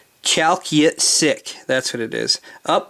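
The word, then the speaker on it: Chalkyitsik: it sounds like an indian name uh obviously chalky sick chalky sick that's what it is up the up the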